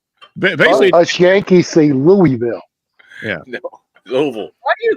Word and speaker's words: Louisville: are very okay yeah that would with your pronunciation of Louisville oh Lou Louisville yeah I mean you basically